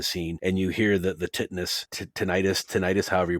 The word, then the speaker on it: tinnitus: consciousness in a scene, and you hear the tinnitus, however you pronounce it.